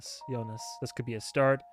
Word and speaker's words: Jonas: The J is pronounced Jonas.